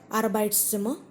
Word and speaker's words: Arbeitszimmer: The R that comes in Arbeitszimmer, in the beginning that is pronounced, but at the end it is not pronounced.